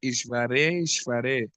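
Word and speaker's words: ईश्वरेश्वरे: Ishvareshvare. Lokaha sapala hey eta smai haranti balim adartaha. Synonyms. How do you pronounce that, Prabhu? Ishvareshvare. Ishvare. It's like Ishvara is twice.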